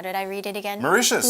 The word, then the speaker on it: Mauritius: Mauritius. Mauritius, yes, that's right.